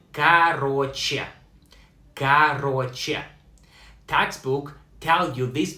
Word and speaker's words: короче: Pronounced like короче.